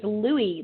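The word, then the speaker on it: Louis: word this week is Louie Louie is spelled l o u i s Louie and you might say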